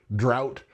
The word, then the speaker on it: drought: There's drought where it's where it's uh pronounced ow.